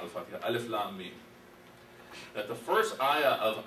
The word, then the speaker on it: Alif Lam Mim: and this other Madda, I wouldn't know that this is pronounced as Alif Lam Mim. I might pronounce it as Alama. Okay. Or if I don't even know that much, I might pronounce this as Alima.